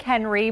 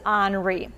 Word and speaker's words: Henri: tropical storm henry i know it looks like henry but the national hurricane center has the pronunciation for henry as you might think it is pronounced is henri so we're going to continue to talk about